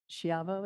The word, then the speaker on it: Schiavo: And that was introduced by Assemblymember Schiavo, is that the correct pronunciation?